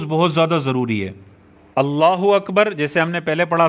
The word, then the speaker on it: اللہ اکبر: بہت زیادہ ضروری ہے۔ اللہ اکبر جیسے ہم نے پہلے پڑھا تھا، اللہ پہ زبر پڑھنی ہے، کھڑا زبر نہیں ہونا چاہیے، اکبر پہ زبر پڑھنی